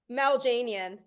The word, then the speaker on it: Maljanian: Mal Janian. Mal Janian.